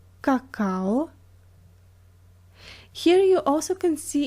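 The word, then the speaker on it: какао: as all just because cacao is not a Russian word and usually when a word comes from another language these reading rules stay the same cacao cacao okay number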